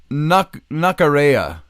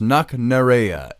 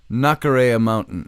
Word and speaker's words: Knocknarea: On Knockarea, it's pronounced Knocknarea, Knocknarea, Knocknarea Mountain.